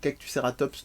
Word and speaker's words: Cactuceratops: Je vous invite à aller sur la page de Cactuceratops, Cactuceratops, donc comme ça se prononce, Fanny Rebillard de son nom.